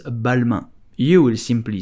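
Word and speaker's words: Balmain: so how do you pronounce balma you will simply say balma balma balma I hope you enjoyed this video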